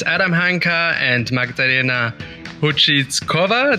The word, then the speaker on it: Houzvickova: It's Adam Hanka and Magdalena Houzvickova. Did I pronounce that right, Magda? Almost close as a Houzvickova.